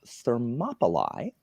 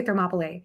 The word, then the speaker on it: Thermopylae: the AE in Latin, the AE diphthong in Latin is an I sound. So I pronounce it like that. So I think in Greek it's Thermopylae, because that's what most people say.